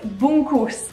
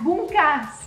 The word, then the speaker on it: bungkus: Now I'm saying that the correct way this time. You guys gave me hundreds of comments last time saying, Alana, did that bungkas? Bungkus ini. Sorry for the mispronunciation last time.